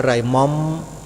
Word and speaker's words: หม่อม: หม่อม ช้าง โยม พิมพ์ คำ ว่า หม่อม เป็น หรือ เปล่า โยม บาง คน ก็ พิมพ์ ไม่ เป็น นะ อ้าว อาตมาภาพ จะ สะกด ให้ เดี๋ยว โยม ก็ พิมพ์ ผิด อีก ไป เขียน คำ ว่า มอ ม้า มั้ย โทร อ่าง มอ ม้า มัน ไม่ ได้ อ่าน ว่า หม่อม นะ โยม อ่าน ว่า มอม ไม่ รู้ ภาษา อะไร